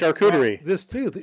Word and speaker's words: charcuterie: How do you pronounce charcuterie?